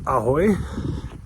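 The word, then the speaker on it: ahoj: So basically in Czech like saying something like hi you say it like aoy right pirate pirate high kind of but you just say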